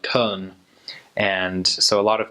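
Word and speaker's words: Köln: middle of Germany and in German it's actually called Cohn and so a lot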